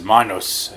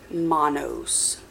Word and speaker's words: Manos: isn't just strongly suggested, it is point blank said that it is to be pronounced Manos, not Manos.